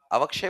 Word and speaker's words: अवक्षय: अव अवक वही तो अवक्षय क्यों बोल रहे हो तुम? अवशय होता है ना? अवशय हुआ ना अवक्षय बोलते हैं इसको क साइलेंट है।